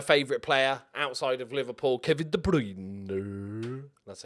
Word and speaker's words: Kevin De Bruyne: Attacking-wise, my favourite player outside of Liverpool, Kevin De Bruyne. That's how you have to pronounce it.